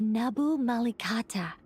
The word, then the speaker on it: Nabu Malikata: Those were the remains of Nabu Malikata, the goddess of flowers. I did pronounce her name correctly.